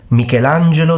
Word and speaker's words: Michelangelo: a handful but that's how you're supposed to pronounce it full name mikelangelo Simon you got show off your rolling of